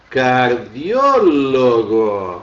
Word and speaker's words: cardiólogo: Em espanhol, cardiólogo. Olha aqui para onde é que foi parar, ó. Onde é que foi parar minha sílaba tônica? Lá na penúltima. E acentuado porque é uma proparoxítona.